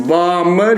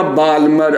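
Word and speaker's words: Balmer: तो जब दूसरे पे आएगा तो उसी को हम लोग कहते हैं बाल्मर या बाल्मर। अब जो पढ़ो, एल साइलेंट होता है वैसे, बाल्मर सीरीज।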